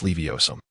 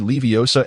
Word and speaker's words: Leviosa: Because you mispronounced the incantation. If I remember correctly, the spell you uttered was Leviosum. Ron repeated Leviosa and Leviosum twice, furrowing his brow in confusion.